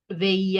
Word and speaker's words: veía: Veía, accent on the I.